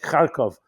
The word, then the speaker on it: Kharkov: Thomas it's cities like Kharkov I'm pronouncing it in the Yiddish in the Jewish way I know their names have been somewhat changed pronunciation but we're all familiar